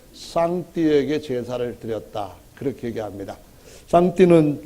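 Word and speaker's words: 上帝: 제사를 드렸다 그렇게 얘기합니다 장띠는 중국식으로 한자를 발음하는 건데 우리 식으로 한다면 상죄라는 말이죠 그러니까 가장 높은 임금님한테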